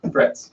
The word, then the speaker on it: Frites: Frites. Frets. That's how it's pronounced.